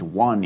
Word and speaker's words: one: One of the reasons it's tricky is because it really doesn't sound like it's spelled in a lot of ways. If its orthography or its spelling represented its phonology or its pronunciation, it would rhyme with bone, stone, and phone, wouldn't it?